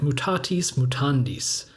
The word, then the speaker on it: mutatis mutandis: for what it's worth this phrase in classical latin would be something like mutatis mutandis but the long eye